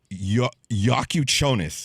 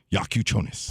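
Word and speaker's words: Jakučionis: Kel'el Ware, and then the guard, Yakuchonis is how you say his last name. Yakuchonis.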